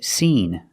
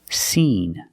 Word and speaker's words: seen: And the second word is seen, with the long E sound like green beans, seen.